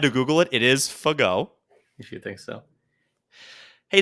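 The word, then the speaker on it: Fagot: Diego Fege. Nah, that's not it, actually. Keep going. Diego Fagola. It's Fago.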